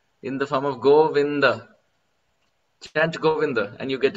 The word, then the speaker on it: Govinda: Go is easy, the is easy, but vin is difficult because Govinda, there is a samyukta akshar, there is a combination syllable. Govinda, half na with a full da, Govinda.